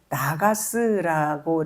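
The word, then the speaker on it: נָגַשׂ: 감독자라는 것은 나가스라고 이렇게 발음하는데 과세하다, 징수하다, 보상을 요구하다 이런 뜻이 있어요.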